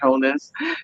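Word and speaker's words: Holness: for repatriations I support you know um Andrew holess um uh you know sorry the The Honorable right honorable Andrew holers let me say it correctly and obviously the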